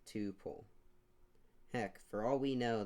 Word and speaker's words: tuple: known as a tuple some people pronounce it like two pole others pronounce it like tuple rhymes with couple but it's not spelled